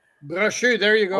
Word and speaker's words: Brochu: I think watching the documentary, the other 15 owners they had bashing Bruchot, if I say his name correctly. Brochu, there you go. Brochu avec un French accent.